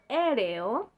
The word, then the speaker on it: aéreo: Mais par exemple, si on a deux voyelles fortes, on ne va jamais les prononcer ensemble. Par exemple, dans le mot aéreo et dans le prénom Béatrice. Il faut le prononcer séparément parce que ce sont des voyelles fortes.